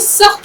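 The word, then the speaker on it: सख़्त: प्यास लग रही थी अब देखिए सखत लज है आपको इसका उच्चारण सही रखना है सख्त मतलब बहुत शदीद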